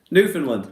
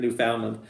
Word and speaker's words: Newfoundland: from newfoundland new news i don't know why i say it like that newfoundland right that'd be more correct than newfoundland ah love the channel